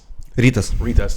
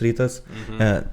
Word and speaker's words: Rytas: base is insane, and then like how you pronounce it, Rytas, yeah.